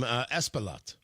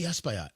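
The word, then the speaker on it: Espaillat: Representative uh I believe I pronounced his last name, Espalot. Or could be Espayot. S P E S P A I L L A T representative out of New York.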